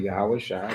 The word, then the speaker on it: yahawashi: yahawashi okay we say yahawashi that's the Hebrew pronunciation for the Messiah so we have a